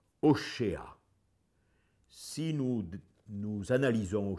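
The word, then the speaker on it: Hoshea: propre langue et verra que ça se dit pas osé à l'hébreu ça se dit au chat si nous nous analysons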